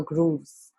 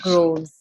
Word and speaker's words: groves: ancient mother in her grooves. Her Groves. groves. Yeah, grooves would be two O's.